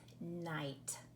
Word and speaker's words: night: Well, what do you think happens in this word so that all we hear is the n, I, t, night? What are we missing right there in the middle of that word? It is the GH. Do you see it? Do you hear the GH? Listen, night. You do not hear the GH letter pair at all.